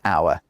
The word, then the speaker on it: hour: In English, the H in hour has never been pronounced. It was never a how. Not only that, it was never pronounced in French either. So when we borrowed the word from French, the H was already silent.